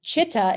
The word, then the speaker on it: chitta: This yoga is a study of yourself, and chitta is how you pronounce that word, is the heart-mind field of